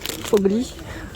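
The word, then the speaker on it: Foglie: Alors c'est Fogli du Livo, on prononce comme ça. Fogli.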